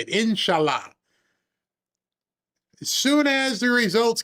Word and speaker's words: Inshallah: And I've said these words in the way that many of us will say, inshallah.